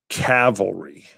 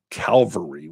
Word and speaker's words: cavalry: say it right now I'm going to say cavalry cavalry I always say Calvary which is of course the hill the mount that Jesus was on I'm a huge fan